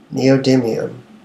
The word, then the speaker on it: neodymium: Neodymium. But it was sounding so much cooler when I was mispronouncing it.